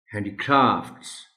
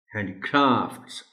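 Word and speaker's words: handicrafts: So please note it honourable teacher and tell the students to that the correct pronunciation of the word is हैंडीक्राफ्ट्स, हैंडीक्राफ्ट्स। आर पर देखा stress आ रहा है।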